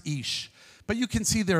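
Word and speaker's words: אִישׁ: on your screen there it's pronounced ish but you can see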